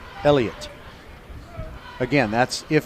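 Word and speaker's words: Eliut: He spells it E-L-I-U-T, Elliot.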